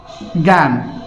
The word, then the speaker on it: জ্ঞান: যাই তাহলে কি আছে, জ্ঞান। তাহলে এর উচ্চারণটা কি হবে, যেহেতু এখানে দেখো যে কি আকার রয়েছে তাহলে কি জ ফলা আকার বলবে। তার মানে কি শুরুতে থাকলে গ, তাহলে গ গ বসলো।